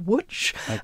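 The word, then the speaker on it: Łódź: Polish city which is spelt LOD said but pronounced watch and which the Germans renamed lits munched at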